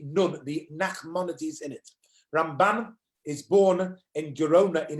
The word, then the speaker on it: Ramban: The stress, when we say Rambam, we do the stress at the first half, Ram, that's right, and Ramban, you do the stress on the second